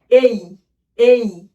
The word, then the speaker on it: A: প্রথম লেটার হচ্ছে এই এই। বাংলায় কিন্তু আমি ওখানে উচ্চারণ লিখে দিয়েছি।